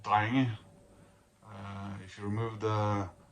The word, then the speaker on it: Drenge: have a farmhand, and he'd be called a dreng. But this is an English band, and I don't think they had thought of that when they picked the name. So I think they pronounce it drenge.